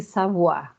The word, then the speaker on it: Savoye: Então, a casa que vai ser o exercício avaliativo de vocês é a casa Ville Savoie, se escreve Savoie, mas se pronuncia, tem francês, se pronuncia Savoie, tá?